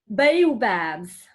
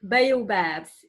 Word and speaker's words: baobab: So you hear it's not the same, how you say that, the highlight of the pronunciation is not the same. Rather in French is catastrophe, and in English catastrophe. Baobabs, baobabs.